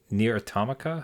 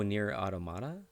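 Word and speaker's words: NieR: Automata: ever wanted to play near atomica how do you say the second oh near automata AO near automata okay yeah yeah so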